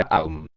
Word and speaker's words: Om: Pregunta: maestro, ¿cómo se pronuncia el mantra Om? Respuesta: se pronuncia Aum.